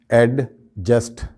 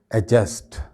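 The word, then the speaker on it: adjust: इसके बाद ये एक लफ्ज़ है, इसको आमतौर पे हम एडजस्ट कह करके प्रोनाउंस करते हैं, ठीक है, लेकिन इसमें भी जो है वो डी साइलेंट होता है एक्चुअली बोलते वक्त, यानी हम डी को बिल्कुल बोलते ही नहीं है। सही इसका प्रोनाउंसिएशन है एडजस्ट, एडजस्ट।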